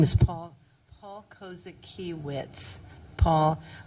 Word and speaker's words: Kozakiewicz: His name is Paul Kozakiewicz. Paul, it's like, phonetically it's Kosakiewitz. Paul Kozakiewicz. But I don't know how he spells his last name. But that's how he pronounces it.